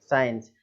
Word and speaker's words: science: अब इसमें भी एस के बाद क्या आ रहा है, सी आ रहा है, तो सी जो है वो क्या हो गया, साइलेंट हो गया।